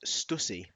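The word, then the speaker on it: Stüssy: It's got like a, I think it's called an epsilon or something. What's it called, this thing above the U here? There's like two dots. Umlaut. Umlaut, that's it. So it's supposed to be pronounced Stussy.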